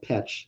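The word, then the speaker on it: Pécs: looks Hungarian there's a city in Hungary called petch spelled like PEX isn't there okay yes need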